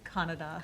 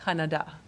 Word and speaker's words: Kannada: Kannada. Kannada.